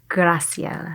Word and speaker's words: Graciela: Is that how you pronounce it? Graciela. Graciela.